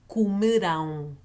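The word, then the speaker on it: comerão: stress the last syllable whenever you see a word with a tilt on it it's telling you you're going to stress that syllable so for future tense to say they will eat Kumu down cool me down so minim kumudam it's written basically the same way right so am ending a o ending but you're stressing a different syllables so it is a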